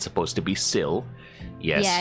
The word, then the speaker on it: Syl: because it's easier because calling me Sil some people mispronounce it as Sly sty and be like if